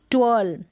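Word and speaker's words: twelve: तो यहाँ पर देखें ये है टी डब्ल्यू, अगली स्पेलिंग है टी डब्ल्यू, इसको ट्व पढ़ेंगे, टी डब्ल्यू का उच्चारण ध्यान रखें, टी डब्ल्यू को ट्व करके प्रोनाउंस करेंगे, ट्वेल्व।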